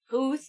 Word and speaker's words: Puth: Puth. Puth.